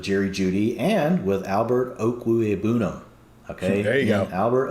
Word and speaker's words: Okwuegbunam: Albert Okwuegbunam. Kings stay kings. You guys can go straight to Albert O's Twitter account, to get the correct pronunciation. He has it spelled out, and it's Oak with an O-A-K.